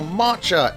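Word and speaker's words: Mareeta: It's Machua or Matcha if you want to pronounce it properly, but I use the old translation cuz I'm just that much of a gangster. Mucha, much like Brighton, is a very, very simple unit.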